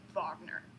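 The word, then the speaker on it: Wagner: written by busy and it's pronounced vagner and I am appalled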